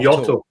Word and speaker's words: Jota: You mean Yotto? Yotto. Jota. Yeah, I've heard a few. I've heard a few like American announcers pronounce it like he's Spanish or something.